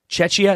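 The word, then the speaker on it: Czechia: Chetchia. That's how you say it, right? Chetchia. Czecha. Is it though? Yeah, it is. Czecha.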